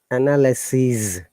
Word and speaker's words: analyses: And let us listen to the sound. Analyses, Z sound for the plural.